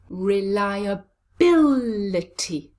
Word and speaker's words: reliability: Where is the stress? Reliability. Yes, it's on the 4th syllable, bill.